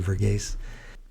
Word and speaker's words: Verghese: It's Abraham Burgess, and it ends ESE, Verghese.